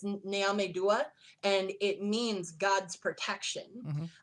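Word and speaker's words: Nyame Dua: symbol and that's actually called uh Naomi sorry I might mispronounce this actually it's naomedua and it means God's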